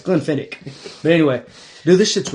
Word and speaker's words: Glenfiddich: It's Glenfiddich.